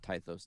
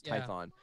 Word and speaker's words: Tython: uh what is it typhos is that how you say it python tython not tythos tython um and that's where